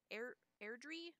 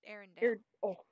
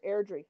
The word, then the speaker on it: Airdrie: Is Airdrie, not Arendelle. Sorry, Airdrie.